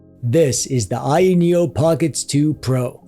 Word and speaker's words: Pocket S: A while back, I reviewed this, the Ayaneo Pockets. It's pronounced Pocket S.